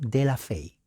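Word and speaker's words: de la Faye: fe nombre antoine apellido de la fe se escribe falle pero la a es e y la e no se pronuncia solamente la y por eso es fe y antoine de la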